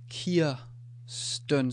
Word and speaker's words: Kirsten: So we have the R, but it's not pronounced as a R sound or a R sound, or it becomes Kirsten. So what it actually does is it changes the vowel, the Kirsten.